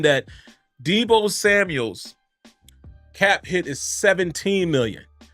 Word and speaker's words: Samuel: let me check Deo Samuel's age always say his name carefully because you want to say Samuels but it's Samuel it's no it's not plural so I always have